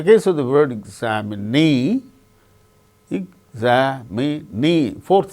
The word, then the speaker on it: examinee: In the case of the word examine, second syllable gains stress. In the case of the word examinee, examinee, fourth syllable gains stress.